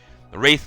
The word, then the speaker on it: Wraith: No, it's Wraith. Wraith, like the spirit, the vengeful spirit.